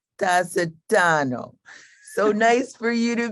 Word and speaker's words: Tasetano: i gotta tell you how she told me to pronounce her last name amy dacidano so nice for you